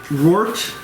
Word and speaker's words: Rort: Is he the Oh, it's Rot. It's probably right. He's a Oh, son. his name was. If it's him, his name is spelled Rort. Rort. Rort. sorry. Roy. R-O-R-T. Yeah, R-O-R-T.